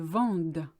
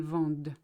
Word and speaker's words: vendent: The only difference between the two is the D that is pronounced. Because there's ENT after it, you have to say everything up to the ENT, but ignore the ENT itself.